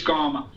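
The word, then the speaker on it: kamma: So it's gama. Okay. So it's not ma it's it's just uh I'm going to start doing that is imagining it's a G even though it's a K in writing.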